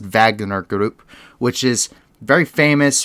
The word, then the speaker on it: Wagner: that the wagner group it looks like wagner but it's pronounced vagner group which is very